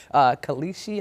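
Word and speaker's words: Kalshi: And so you have that company that had the ad running while Trump's speech is happening in Madison Square Garden, Kalishi, I believe is how you pronounce it.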